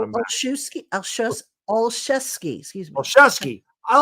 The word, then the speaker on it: Olszewski: Olszewski.